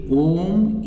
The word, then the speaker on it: Om: So a and u, when comes together, it becomes o.